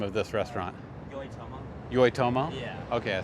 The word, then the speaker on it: Yoitomo: How do you pronounce the name of this restaurant? Yoitomo.